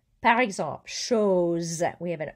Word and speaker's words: chose: Par exemple, chose. We have an O and an E around the S, so it's not chose. It's chose with a Z sound.